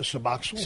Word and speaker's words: Suboxone: Is how do you pronounce it? Suboxone.